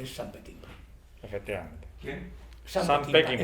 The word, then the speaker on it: Peckinpah: Sam Peckinpah. Es que yo pronuncio bien. Sam Peckinpah. Siempre ponemos esdrújulas, joder. Peckinpah.